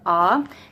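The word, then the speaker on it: ㅏ: for us but you would pronounce it as aa it looks like this oh and then they have a fancy little picture and it had like an arrow hitting him and they said ah so that's way it's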